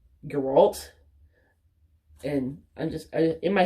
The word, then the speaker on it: Geralt: been in my head pronouncing it as Geralt but it's more like your alt and I'm just in